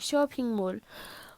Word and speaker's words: Pingmul: So I did say it wrong. Pingmul.